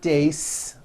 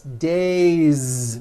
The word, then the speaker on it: days: So you have one day or two days. It's not days, unvoiced. It's days with a voiced Z ending.